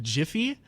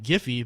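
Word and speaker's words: Giphy: if you pronounce it jiffy like that sounds like a pun like I'll be there in a jiffy but if you pronounce it like giffy then it's like what's a giffy yeah but jiffy is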